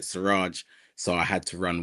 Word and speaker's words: Suraj: So those are the two meanings Siraj has. Obviously in Yoruba, sometimes the name could be pronounced different. It could be Siraju, but as I keep